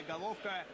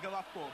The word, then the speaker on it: Головко: Все по-разному произносят фамилию, в частности, этого игрока. Головко или Головка. Большая часть украинских журналистов, специалистов, игроков, с которыми мне доводилось общаться, говорят Головко. Будем так говорить и мы.